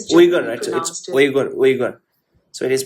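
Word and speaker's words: Uyghur: Wiger is wiger. Wiger. Wiger. So it is pronounced as wiger.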